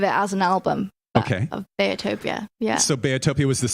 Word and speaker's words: Beatopia: owe you an apology I've been calling your latest album beatopia but I understand it's bayotopia right okay tell me about the pronunciation and why I was messing it up bayotopia so it's because my parents call me Bea um everybody calls me